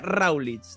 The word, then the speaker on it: Raulitxz: Se pronuncia Raulitz.